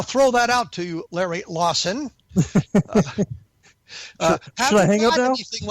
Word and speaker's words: Lawson: My guest, Larry Lawson, was so annoyed that I mispronounced his name, he hung up on me. No, it is Larry Lawson, for those of you who are keeping score at home.